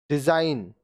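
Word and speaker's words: design: अब देखिए ये जो अब वर्ड्स हम लोग पढ़ेंगे इसमें जी साइलेंट होगा। साइन, चिन्ह, साइन, चिन्ह। डिजाइन, रचना, डिजाइन, रचना।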